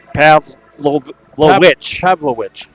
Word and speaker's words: Pavlovich: That is Connor Pavlovich is the correct Pavlovich is the correct pronunciation of Connor's name, so I apologize for